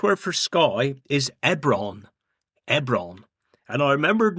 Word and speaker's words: Ebron: Ebron. And I remembered n how to spell it. E b r o n.